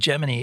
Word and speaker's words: Gemini: They were all into saying Jiminy and so at one point NASA had to come out and make a press statement to say Jiminy is the official pronunciation of the Gemini program.